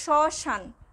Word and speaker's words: শ্মশান: আবার যদি বলি শ্মশান, স্বয়ের সাথে কিন্তু ম রয়েছে কিন্তু যখন আমরা উচ্চারণ করছি তখন কিন্তু উচ্চারিত হচ্ছে না।